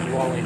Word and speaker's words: Guale: Yeah, Well, Guale. that's how I pronounce it. I heard somebody else pronounce it differently the other day, but it looks like Guale to me.